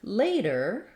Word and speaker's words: later: all of these words have the first syllable that is stressed and it's the same they all have the a diphthong lay is long and then dur dull or bull are all short reduced syllables thinking about and revision visualizing it with the long a y lay that's going to help you get that a diphthong correct in the word later I've Rewritten that here